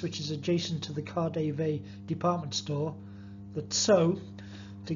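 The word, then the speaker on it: KaDeWe: via Wittenberg Platz which is adjacent to the car Dave department store that so to give it its proper pronunciation and goes as far as the Khalif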